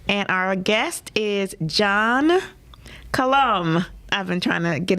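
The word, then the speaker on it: Qalam: you see it and so his last name is spelled q-a-l-a-m so his name is John colom and uh I want you to meet this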